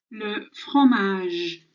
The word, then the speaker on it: le fromage: So that fromage, that R is a rolling sound. It's silent, but it's a J sound at the end.